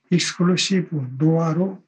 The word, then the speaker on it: XNOR: 여기에 XOR라고 썼는데 이걸 익스클루시브 OR라고 읽으면 되겠고, XNOR는 익스클루시브 노어로 읽으면 됩니다.